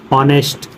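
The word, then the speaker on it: honest: है क रहा है जब ओ से पहले एच आता है तब एच साइलेंट होता है कभी भी ओ से पहले एच आता है एच साइलेंट होता है जैसे देखो लिखा ऑनर ऑनेस्ट आवर इको जो भी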